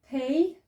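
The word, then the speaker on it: פ: We've got pay, which sounds as pa. And then, so remember, pay got the dot. Without the dot, it becomes f, as in the sound F for fish. So with the dot, it's the pa sound, as in pot. And without the dot, it's the f sound, as in the word fish or fog.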